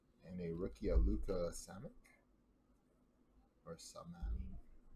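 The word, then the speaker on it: Šamanić: And a rookie, a Luka Samak, or Saman, how do you say this name? Samanic.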